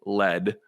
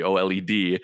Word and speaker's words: OLED: there's enough in the old led the oled he said it wrong lead yeah it sounds irish